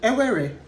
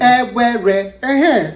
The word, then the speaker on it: Ewere: We are Priscilla and Ewere. Nice to see you. As I just pronounced my name very wrong. I said Ewere. You pronounce it like a Canadian. Ewere.